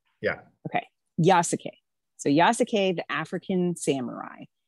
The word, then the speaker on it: Yasuke: i say it correctly yes k yeah okay yasuke so yasake the african samurai and this is